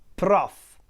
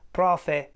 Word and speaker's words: prof: Let me say it again, prof. In some areas of Italy, mainly in the center, this word prof is pronounced like profe or something like that, with a kind of a schwa at the end.